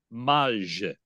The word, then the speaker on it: Mage: honoring his sire, but technically it's a French word and in French it's pronounced "Maje" and I say that because I have a hunch that Johnny Avello prefers the European, right Johnny?